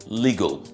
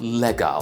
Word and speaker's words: legal: And we're taking the word first, legal. Not legal, like some will pronounce it. It's legal. Legal.